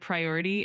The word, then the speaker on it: priority: The word priority is pronounced as priority with the emphasis on the second syllable.